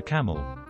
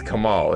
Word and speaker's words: Kamal: ever large coffee for camel it's it's kamal it's not camel of course they mess